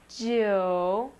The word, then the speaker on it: 九: And finally, 9, 九, 九, 九, 4, 9. And 0. 0 looks really complicated, but we'll pronounce it ling, ling, ling, ling for 0.